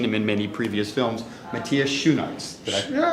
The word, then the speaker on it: Matthias Schoenaerts: It is my pleasure to introduce you to, although you may have seen him in many previous films, Matthias Schoenaerts. Yeah, it's perfect. Did I pronounce it close enough?